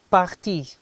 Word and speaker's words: partis: Parti. You don't pronounce it, but it's partis. But you don't pronounce it, you say parti.